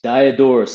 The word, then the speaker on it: Diodorus: Diodorus is Diodorus.